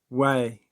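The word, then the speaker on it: Huay: a creature from the Mexican Yucatan area uh way which is spelled h-u-a-y means sorcerer or animal familiar and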